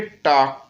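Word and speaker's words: talk: English में इसको बोलेंगे टॉक टू मी क्या बोलेंगे टॉक टू मी अब यहां पर स्पेलिंग टी ए एल के होता है तो टॉक टू मी बोलते हैं एल साइलेंट रहता है ऐसे बहुत सारे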